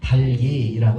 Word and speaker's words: 닭이: 그래서 이거 닭이가 아니라 달기라고 읽어야 되는 것이죠.